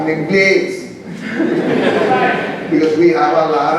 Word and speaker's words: Blades: The real pronunciation is Blades. Because my grandfather, my father's father, Blades, was an Englishman from St. Lucie. But in Panama, everybody always called me Blades and there was no problem.